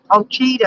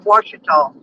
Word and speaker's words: Washita: Yeah, it's funny when I hear GPS say it calls it Ochita or something. It's pronounced Washita.